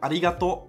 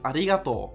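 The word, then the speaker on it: ありがとう: Or in the word arigato, you prolong the to with an u. So it's not arigato, but arigato.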